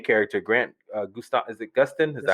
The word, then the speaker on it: Gustin: Obviously the main character, Grant Gustav, is it Gustin? Is that how you pronounce his last name?